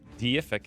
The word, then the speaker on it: deific: The E in deific is pronounced like a long A.